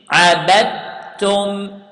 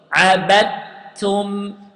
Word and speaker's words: عَبَدْتُمْ: Then عَبَدْتُمْ. Notice here, I didn't pronounce the dal. Okay? I didn't pronounce the dal because the dal here entered in the ta letter, in the letter that came next the dal.